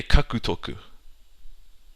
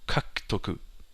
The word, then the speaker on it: kakutoku: But in general, the U of a hiragana, let's say, or katakana disappears in several cases, and you just sound weird if you pronounce it as it's read. Like, I have a few examples. Kakutoku, to acquire. You wouldn't say kakutoku. So, kakutoku.